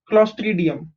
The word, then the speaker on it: Clostridium: Okay, an example of a harmful microorganism is Clostridium. Okay, how do you pronounce this? CLO is CLOS is clos, TRI is tree, DI is D, UM is Clostridium.